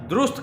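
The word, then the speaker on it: درست: और दुरुस्त कहना है, दुरुस्त नहीं कहना। दुरुस्त दाल के ऊपर पेश है।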